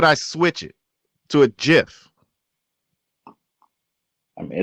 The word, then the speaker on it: GIF: this problem speakers pronounce first letter GIF two different ways a hard G gift goat gate for got a gate or the soft G gin Jim gem some other rapper but